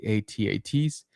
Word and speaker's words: AT-AT: guys know and love, like the AT-ATs. Yes, that's how you pronounce it.